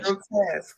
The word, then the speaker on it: grotesque: Grotesque.